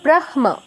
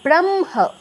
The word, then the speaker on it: ব্রাহ্ম: যেমন তিন নাম্বারটা দেখুন হ সংযুক্ত উচ্চারণ হওয়া উচিত ছিল ব্রাহ্ম ব্রাহ্ম এরকম হওয়া উচিত ছিল। কিন্তু উচ্চারণটা হবে ব্রাহ্ম। ম আ পরে অনুনাসিক ধ্বনিটা আগে হটা পরে।